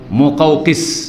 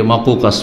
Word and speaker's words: মোকাউকিস: মোকাউকিস। এটাকে অনেকে ভুল পড়ে, কারণ শব্দটা একটু কঠিন উচ্চারণের দিক থেকে, অনেকে মাকুকাস পড়ে, ভুল পড়ে, তো এইসব মোকাউকিস।